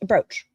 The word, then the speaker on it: brooch: Was rhymes with coach poach. A brooch.